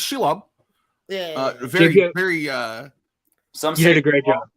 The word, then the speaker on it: Shelob: Yeah, It's she it's Shelob. Yeah. Very, very. Some You say did a great job. Some say shalom.